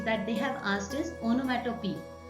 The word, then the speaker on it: onomatopoeia: The next figure of speech that they have asked is onomatopoeia, or you can pronounce it as onomatopoeia too, but onomatopoeia is much correct.